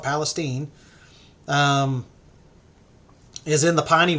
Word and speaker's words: Palestine: um and Florence uh Palestine Texas spelled Palestine but people call it Palestine um is in the